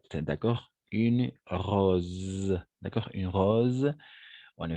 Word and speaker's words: rose: bien une rose alors à chaque fois que le S et il y a entre deux voyelles d'accord entre du voyelles on va prononcer comme un Z d'accord une rose d'accord une rose on